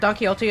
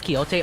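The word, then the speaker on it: Quixote: I've heard Doniote is pronounced as Kihot a lot. Well, I say Doniote because that's how uh it's pronounced in like like that's what everyone here pronounces it as. Um, unless I'm getting it wrong. It is Kyote.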